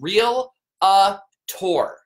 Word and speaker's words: realtor: I was using was real uh tore three syllables realtor heyyou realtor's what's